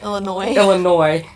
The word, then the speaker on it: Illinois: The S is silent. Illinois.